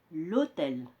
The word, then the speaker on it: l'hôtel: Donc on dit l'hôtel. On a élidé, c'est-à-dire supprimé le E ici, la voyelle, et on l'a remplacé par le signe apostrophe.